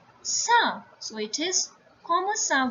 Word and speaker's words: ça: If this cédille accent is not there, it will be pronounced as ka. But with this cédille accent, it becomes sa.